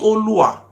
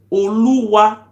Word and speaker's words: Oluwa: It's not Olua. The real pronunciation is called Oluwa Primary School.